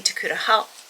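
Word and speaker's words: Tokuda-Hall: Mermaid, the Witch, and the Sea by Maggie Takuta Hall.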